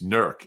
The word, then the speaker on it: Newark: actually went to an ad agency up in nerk Ohio NE W RK it's pronounced Newark in Delaware uh an in infestation